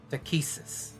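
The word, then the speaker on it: Takhisis: Can you pronounce it again? I'm so sorry. Takesis.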